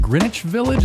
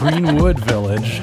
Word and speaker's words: Greenwood Village: Is it Greenwich Village? Is it Green Witch V? How do you say it? Greenwood Village. Greenwood. I don't know where I'm getting the witch from. Greenwood Village. uh which is in Denver